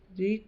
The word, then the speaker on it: ऋ: री का हिंदी में शुद्ध प्रयोग नहीं होने के कारण री, र प्लस ई यानी री, ये छोटी री है और ये र प्लस बड़ी ई के उच्चारण के रूप में होने लगा है।